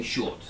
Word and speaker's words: short: by a vowel sound when it's followed by a consonant it is silent and we don't pronounce the R for example like short when I say short we say short okay yes all right